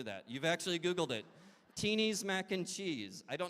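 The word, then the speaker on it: Tini: say her name right is it tines mac and cheese teenies thank you some people knew that you've actually Googled it teenies mac and cheese I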